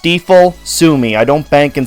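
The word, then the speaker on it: Stifel: I'm editing this and it's actually pronounced steifel Sumi I don't Bank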